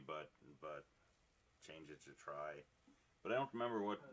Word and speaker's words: trie: for it was real it was a play on the word tree um and i think he actually pronounced it tree but but change it to try but i don't remember